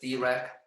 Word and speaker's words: Dirac: This is a name pronounced as Dirac.